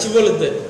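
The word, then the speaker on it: Shibboleth: நித்தியம் வரலன்றாங்க, ஷிபோலேத்.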